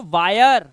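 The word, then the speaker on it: wire: डब्लू के लिए क्या पढ़ते हैं व तो वायर क्या हो गया वायर और हिरे मत पढ़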